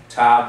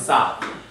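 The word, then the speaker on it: תו: Among Ashkenazi pronunciation, especially those who speak Yiddish, they say, no, we even have a different sound. We make it an S sound. So tav becomes sav.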